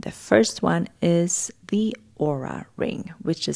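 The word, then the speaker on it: Oura: with you and the first one is the aura ring which is spelled o u r a i have had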